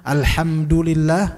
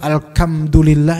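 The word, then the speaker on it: الحمد لله: Misalnya alhamdulillah dibaca alkam. Ini enggak ada dalam bahasa Arab alkamdulillah. Itu enggak benar ya. Alhamdulillah.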